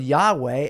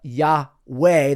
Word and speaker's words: Yahweh: was sort of a breathing sound before yah became a very pronounced ho sound yah ho and then of course the yahwe the W sound from the Hebrew VAV W yahwe started to be pronounced as a v sound with an a after it so yah way became yah ho VA instead now you have Yahweh being pronounced like Jehovah and pretty soon you